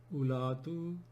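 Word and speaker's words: أولات: And then zawatu becomes like from here, ulatu, ulati, ulati, not ulati. We don't pronounce wo here either.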